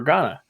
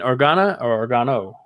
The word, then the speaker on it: Organa: and talk to Senator Organa, and Organo. Or have I been saying it wrong? I think I said it wrong. No, you said I think I said Organo earlier.